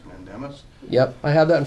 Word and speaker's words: mandamus: the order of I don't know how to pronounce the word what is it mandemus mandemus yep I have that in front of me